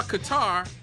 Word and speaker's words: Qatar: We just saw Qatar, which I like to pronounce like it it rhymes with guitar.